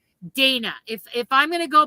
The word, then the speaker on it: Dana: going to go by, English spelling, the A is long, therefore there's one N. Where there are those who pronounce it Dana and they have two N's, two consonants, make it a soft A.